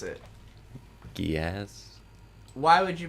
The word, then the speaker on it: Geass: fairness, it is Kodo Gyasu. Gyasu.